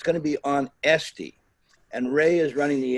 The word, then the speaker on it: Etsy: So if you go to Etsy, you'll be but it will be Etsy, not Etsy. Etsy is your aunt, I think, but Etsy. Etsy.